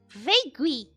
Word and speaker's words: vague: you said it e the ua is silent though vaguely vegu vague vegeta i